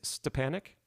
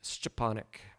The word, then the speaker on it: Stepanic: you pronounce your surname the way I pronounce it for Americans is stepanic like s t e p a n i i c more like stepanic but the Polish pronunciation would be stonic which um nobody in in the US can ever say correctly so I just skip that and we go with an Americanized version of it yes my my last